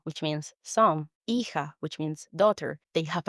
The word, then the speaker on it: hija: We have another examples like hijo, which means son, hija, which means daughter. They have an H in the beginning. Just imagine it's not there and go straight to pronouncing the second letter of the word.